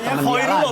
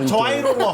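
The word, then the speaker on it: Khoirullah: h o i dibacanya temanku ada namanya fuadirullah koirullah bukan coirullah bukan koirullah ya bukan beda beda bed karena belakangnya ada rulohnya oh iya jadi koir maksudnya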